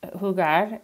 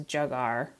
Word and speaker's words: jugar: up the the um the way they say it like hugar is just to um hugar hugar to play and Spanish and when you choose an an English-speaking child it says jugar so you just want